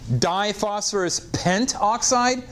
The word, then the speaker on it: diphosphorus pentoxide: Now, again, this can be written diphosphorus pentoxide or diphosphorus pentaoxide. Okay, this is diphosphorus pentaoxide or diphosphorus pentoxide. When a prefix has two syllables, that second syllable sometimes gets chopped off.